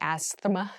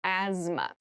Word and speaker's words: asthma: There's a TH in the middle, but we don't say asthma, we say asthma.